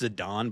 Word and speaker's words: Zidane: Um, Zedane is probably I'm probably saying his name wrong. Someone told me I'm pronouncing his name wrong. I think it's Zadon, but I call him But doesn't matter.